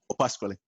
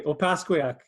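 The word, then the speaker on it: Opaskwayak: Opasquale. No, close. Well, not even. Not even close. I think I butchered it. My apologies. Okay, Opasquiac.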